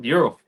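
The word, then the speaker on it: gyro: I always get the lamb Euro or Jiro how do you pronounce that euro is it Euro Euro yep Euro so I'll I'll get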